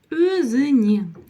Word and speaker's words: өзіне: Өзіне. Дальше у нас идет буква Е, и вот она как пишется, так и читается.